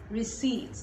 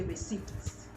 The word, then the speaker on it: receipt: word is pronounced received receipts the p is silent i know a lot of people say receipts that's wrong it is